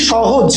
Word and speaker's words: সহজ: মানে আমরা যদি বলি সহজ, দন্ত স হ জ লিখছি, কিন্তু উচ্চারণ করছি তালব্য স।